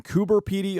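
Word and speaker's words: Coober Pedy: Heroes was shot in kuber py Australia I double checked with an actual Australian so if you complain that I'm saying it wrong you're wrong anyway kuber py is known as the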